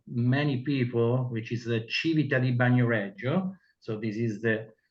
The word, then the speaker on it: Civita di Bagnoregio: You can read this strange name for many people, which is the Civita di Bagnoregio. So this is the right pronunciation.